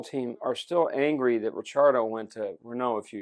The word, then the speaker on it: Ricciardo: If you watch that season with Ricciardo, and now I'm saying it like you do, Ricciardo. I finally got him to say it right.